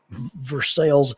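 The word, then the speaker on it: Versailles: Confederates of Kentucky didn't like and so they pronounced it ver sales in order just to offend the French uh really don't know why they pronounce Versa versel but they do now if you don't know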